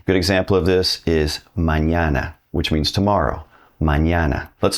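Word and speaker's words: mañana: It's called an pronounced like the N in the English word onion. Good example of this is mñana, which means tomorrow.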